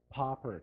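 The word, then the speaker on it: Papert: with the gentleman by the name of Seymour poprad that's how you pronounce his last name he passed away a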